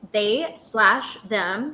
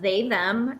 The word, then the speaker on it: They/Them: Okay, so the movie is pronounced they slash them. So not just they them if you were wondering. That slash is something you read out loud.